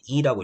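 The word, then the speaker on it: 利: 제가 이 하는데 원래 이게 리예요. 리인데 이제 이라고 읽는 거예요. 북한에서는 리라 하지만 남한에서는 이라 합니다.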